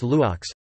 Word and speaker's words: loks: Brief rise followed by a long fall, e.g., lokes, lu grave ks, arch, pronounced luox.